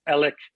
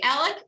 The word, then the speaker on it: Alex: read it in the paper or whatever it's alex murdoch but the way it's pronounced in the in the low country is elec or elec murdoch did i get a right